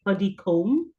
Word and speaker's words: Puddicombe: And just to note, you wondered the pronunciation of my surname is actually Puddicombe.